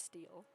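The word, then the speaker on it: Steele: Professor Clark oh okay you don't pronounce the other E I always pronounce it as steel okay it's steel he gestures at the empty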